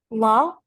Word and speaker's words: law: Law? You don't have to pronounce the W letter at the end, so it's supposed to be law.